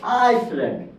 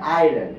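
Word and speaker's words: island: that তো এই কি বললজি আরেকটা কারণ যেমন আইসল্যান্ড উচ্চারণটা আইসল্যান্ড না ধরো দুঃখিত দেখে মন দুঃখিত দুঃখিত দেখে মনে হচ্ছে এটা আইসল্যান্ড দেখে মনে হচ্ছে এটা আইসল্যান্ড কিন্তু এটার উচ্চারণ হয় আইল্যান্ড এটার উচ্চারণ বলা হয় আইল্যান্ড এই ওয়ার্ডটা এসেছে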